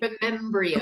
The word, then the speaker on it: Remembryo's: your jewelry comp company called Remos am I pronouncing it correctly Remos Remos thank you Remos and I thought that was a beautiful title